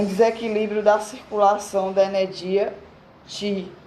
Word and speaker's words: Qi: Ainda não estava preparado para falar do Qi, entre aspas, o Qi, ele botou, pronuncia-se Qi, entre aspas.